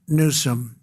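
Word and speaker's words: Newsom: If Gavin Nuome let the water come down. See the way I pronounced his name properly for a change.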